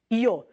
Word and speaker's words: yo: O Y é pronunciado como I.